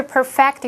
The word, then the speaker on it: perfect: met 是非限定用法的关系子句，用来补充说明先行词 Barcelona。which 是当受格关系代名词用，它是介系词 in 的受词。接下来我们来学习 perfect 当动词的用法。perfect 当形容词是形容完美的，当动词它是念作 perfect，表示使什么什么完美，它是及物动词。例如 The only way to perfect your dribbling skills is to practice every day。